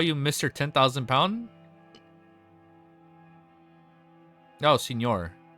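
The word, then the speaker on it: Señor: Oh, Senor. It's pronounced like senor like in Spanish. Oh, John. Thank you, John. I thought it was center since the since the end didn't have that one thing on it.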